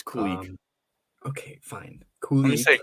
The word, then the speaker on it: Kulich: with Kulich playing, it's Kulich. Okay, fine. Kulich. That's how they pronounce it in the Rochester arena. Kulich. Fine. So. Kulich. You got. Sounds like Kolik. Remember Al Kolik?